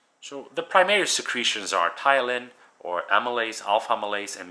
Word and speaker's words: ptyalin: The alpha amylase, which is the ptyalin, the P is silent, and that's amylase is an enzyme that will digest carbs, the starches.